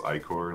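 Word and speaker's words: ichor: like a truffle King demands that you pronounce i-core like i-core yeah hey you're getting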